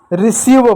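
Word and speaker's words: receive: 7वां नियम यह है कि अगर किसी वर्ड में ई आए, क्या ई और आई आए, तो वहां पर हम उसका उच्चारण बड़ी ई की मात्रा के रूप में करते हैं।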